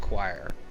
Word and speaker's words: choir: I always forget it's pronounced choir.